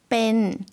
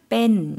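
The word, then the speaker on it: เป็น: 못 이다 라는 거죠 뺀 좀 짧게 발음 해주시면 되겠습니다 뺀 이라고 천천히 지금 발음 해주셨는데요 다음은 요 한 꼭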